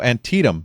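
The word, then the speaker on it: Antietam: continued the fight during no antium that's how it's pronounced I forgot antium I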